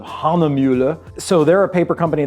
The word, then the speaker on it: Hahnemühle: I'm not pronouncing it entirely correctly because it's something along the lines of Hahnemühle.